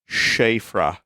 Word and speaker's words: Siofra: Vinny, the Siofra River is pronounced Shafra. It is Gaelic.